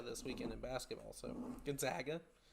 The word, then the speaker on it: Gonzaga: I've been told it's Gonzaga, even though I say everything typically like Zag, and then I try to say it correctly for once in my life and say Zog, and I think it's actually Zag.